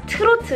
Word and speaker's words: 트로트: Trot, pronounced as 트로트 in Korean, sometimes even called 뽕짝,